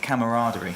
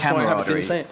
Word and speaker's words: camaraderie: that term a lot camaraderie yeah I can't even say it I say it wrong I say camaraderie well you're saying it wrong it's camarad so that's pretty exciting